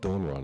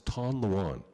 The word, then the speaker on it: Tanluan: It's not Donran, it's Tanluan.